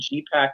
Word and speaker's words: GEEPAK: Yeah, so my production company is named GEEPAK Entertainment, based on the Inuit word in mushing for turning right, which is G. It's spelled GEE. So my company is GEEPAK, as if it's the right pack to be with.